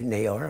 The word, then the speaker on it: Naylor: you folks and um my name is nailor that's spelled n a y l o r and